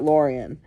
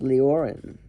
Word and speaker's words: Leoran: I thought it was Lorean. Liorans. Gosh, I've been saying it wrong this whole time. Leoran Lyoran? Lorean. It's certainly not Lorean. Lyoran. Lyran? Lieran. Lioran. Leoran. Leoran. We'll go with Leoran.